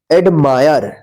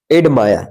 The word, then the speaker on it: admire: ADMIRE, एडमायर। अब इसको ध्यान रखिएगा, फायर, एडमायर।